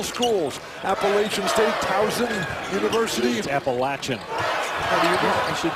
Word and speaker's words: Appalachian: appalachian state thousand universities appalachian that's how it's pronounced you of all people